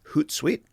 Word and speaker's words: Hootsuite: free product here called Hootsuite. Okay, which rhymes with Toot Sweet.